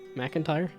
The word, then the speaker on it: McIntyre: McIntyre? I always want to do Mick. MC looks more like Mick than Mac, but a Michael McIntyre show.